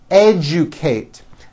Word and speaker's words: educate: educate that has also an unusual pronunciation let me break it down for you educate educate next